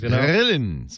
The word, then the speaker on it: Grillen: So we grill things, Grillen. All right. Well, yeah. So we have to come from back in the throat, then it's the right way to say it.